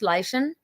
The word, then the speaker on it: Leian: I said, "I love it. It's Welsh. It's pronounced Lean."